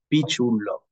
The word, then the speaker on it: Piciullo: So the correct pronunciation of my surname is Piciullo. So just remember the fruit, the peach, and then it's easy, Piciullo.